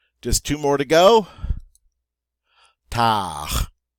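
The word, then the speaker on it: tard: two more to go tah-tah the D is silent and what is tower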